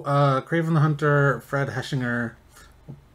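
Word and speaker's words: Hechinger: um okay so uh craven the hunter fred heshinger i'll say it right this time reportedly cast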